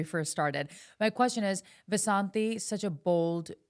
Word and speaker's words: Vasanti: It's not Vasant and it's Vasanti Vasanti pronounced in I can say it.